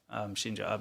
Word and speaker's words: Shinzo Abe: So in celebration of the murder of Shinzo Abe is the correct way to say it.